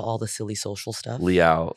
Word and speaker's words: Liao: my name oh yeah okay two syllables yeah Le I was like I know how to say it like you know I'll take it from here Le like meow uh grateful to having